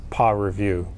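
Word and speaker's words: PAReview: Oh, Yeah, so you can I pronounce this as PA review.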